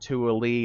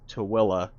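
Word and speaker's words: Tooele: Yes, that is how you say that. It's not Tui, it's not Tuil, it's Tillaa.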